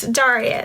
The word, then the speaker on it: Daria: um what y'all talking about how's my name pronounced yes Daria that's my name anyway so um yeah filming